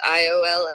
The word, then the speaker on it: Iola: It's Iola. I know it's spelled a little funny, but it's right outside of College Station, about 20 minutes outside of College Station.